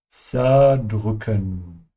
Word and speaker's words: zerdrücken: Remember to pronounce the Z in German like the TS in cats, ja? Zerdrücken.